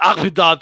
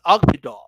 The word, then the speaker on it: Akhmedov: But it's not Akhmedov. It's Akhmedov.